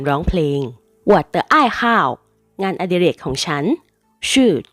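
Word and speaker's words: 好: รัก มาก คำ ว่า How ใน ประโยค นี้ ออก เสียง ว่า หา คำ นี้ แปล ว่า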